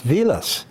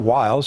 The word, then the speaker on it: Vilas: It's Vilas. It's not Wiles, it's Vilas. But when they got to America, people looked at the spelling because Germans pronounce W as a V.